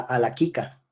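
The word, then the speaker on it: הלכה: Eso también significa autoridad, la alaquica, así se pronuncia, alaquica, es la autoridad para enseñar.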